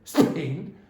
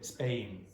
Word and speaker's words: Spain: For example, it's not aspirated after an S usually. So you don't say Spain, you say Spain, Spain. And it sounds a bit like b in that case, Spain, Spain.